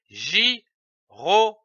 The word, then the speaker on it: gyrophare: Nous avons vu la syllabe J, G-Y-J. Ajoutons d'autres syllabes. Ro, R-O, ro. Fa, P-H-A, fa. Re, R-E, re. L'association de ces syllabes donne le mot gyrophare, c'est-à-dire un gyrophare.